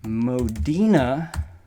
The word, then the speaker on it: Modena: Box 64, Modena is the correct way to say that, New York, 12548.